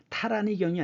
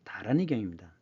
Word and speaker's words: 다라니경: 베풀 포자이지만 산스크리트어는 중국음이 기준이기 때문에 우리 음은 포이지만 중국음으로는 보라고 읽어야 됩니다. 그래서 이건 보시예요. 나무 아미타불 관세음보살 다라니경 이런 것들이 다 타라니경이 아니죠. 다라니경입니다.